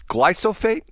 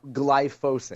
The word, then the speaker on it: glyphosate: And it's glyophate. No, glyphosate. See, I I get those syllables mixed up all the time.